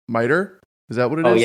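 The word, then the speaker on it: MITRE: this before I always mess up the pronunciation miter is that what it is yeah I say mitcher sometimes I I just spell it out sometimes cuz I have no idea miter now I know I'm calling it m but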